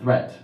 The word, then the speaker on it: threat: Watch out for meat and great and threat. They rhyme with sweet and straight and debt.